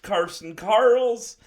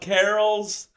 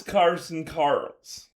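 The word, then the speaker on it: Carson Carels: And thank you to Ryan Pike for confirming that it is pronounced Carson Karls, and not Carols. I called him Carson Carols in his entire video. It is Carson Carls.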